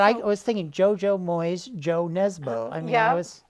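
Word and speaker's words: Jo Nesbø: But I was thinking JoJo Moyes, Joe Nesbo. I mean, Yeah. I was. Although I believe his name is pronounced Yo. Oh, Yo Nesbo. Okay, Yo Nesbo.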